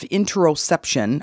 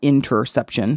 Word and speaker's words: interoception: The meaning of interoception, I did pronounce it wrong just a second ago. It's intero, not interception, because interception is like in football when they intercept the ball.